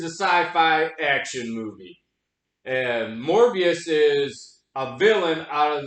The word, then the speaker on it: Morbius: Sony movie called mobile yeah Mobius Mobius morbius Mobius okay I said it wrong morbius starring Jared Leto as